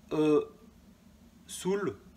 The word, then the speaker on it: E-Soul: La Kia E-Soul. Enfin voilà, alors si vous prononcez à l'anglaise e-Soul, c'est mieux parce que mélangez pas l'anglais et le français.